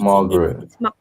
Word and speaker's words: Margaret: Some woman chose a name as she kept saying my name was Margaretti, and I was like, it's not Marguerite. Margaret. It's Margaret. It's Margaret.